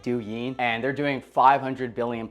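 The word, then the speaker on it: 抖音: I believe it's pronounced like du yin and they're doing 500 billion plus a year.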